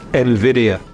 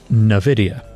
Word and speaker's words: Nvidia: the company Jensen Wang there's no debate it's Nvidia and yet many think this multi-trillion dollar artificial intelligence Pioneer is called Nvidia but it's fitting in a way because Nvidia now one of the